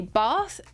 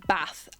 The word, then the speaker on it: bath: the country so typically in southern regions people tend to say bath as it rhymes with father but in more Northern parts of the country people say bath as in rhyming with